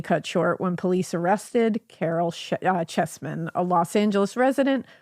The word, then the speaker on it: Caryl: Yeah, Carol. Oh. Um, and it's Carol K. Uh, C A R Y L.